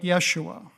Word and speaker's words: Yeshua: would affect the pronunciation Hebrew would be something like Yeshua Aramaic ISU something like that but what about the